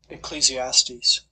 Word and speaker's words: Ecclesiastes: how to say it this word excuse me ecclesiastes oh that was close ecclesiastes chapter 4 verses 9 through 12.